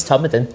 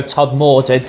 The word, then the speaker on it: Todmorden: So Todd like everybody will like sometimes if you're not from it people go Todd Morton.